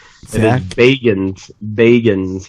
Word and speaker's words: Bagans: I want to point out that Gareth actually pronounced Zach's name correct. Zach? It is Bagans, not Bagans, Bagans.